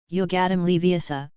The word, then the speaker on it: Wingardium Leviosa: The correct pronunciation is Wingardium Leviosa, the sound of J should be long and clear, and the wand in his hand should be waved.